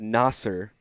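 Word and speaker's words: Nasir: around yeah full circle full circle yeah so Nasser Muhammad um is is going up against Reed Shepard tonight and uh I would imagine and yes it is Nasser I know you're everybody's like no it's not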